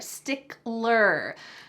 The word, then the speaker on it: stickler: Don't forget that L in there, stickler.